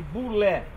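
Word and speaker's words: βουλή: aparece nesse texto mulé mulé cebola é pronuncia-se boulet é uma vontade pretória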